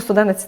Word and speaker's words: студенець: дуже рідко вживаржи р і я навіть не знаю чи я правильно наголос поставила студенець ну студенець - це правильно студенець у нас в нас